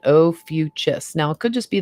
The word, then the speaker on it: Ophiuchus: and here we go here's the pronunciation oh fuchs now it could just